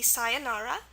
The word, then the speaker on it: sayonara: Example word with this would be sayonara. Okay, so you see it ends in the sound, sayonara, and there we've got the A for that.